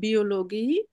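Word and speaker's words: Biologie: future জীববিজ্ঞান পড়তে চাই বায়োলজি মানে বিজ্ঞান এটা উচ্চারণ হবে বিয়োলগিন আবার ইয়েস মাখে ইস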